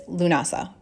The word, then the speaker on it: Lughnasadh: the celebration of the god referred to as lunasa which is spelled a few different ways but generally l-u-g-h-n-a-s-a-d